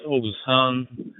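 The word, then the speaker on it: Oguzhan: My name is Ogusan. That's pronounced O, Oscar, Golf, Uniform, Zulu. Okay, Roger, Tango Bravo 1, Victor Uniform Echo, Alpha Bravo 2, Zulu Tango. Good evening, Oguzon.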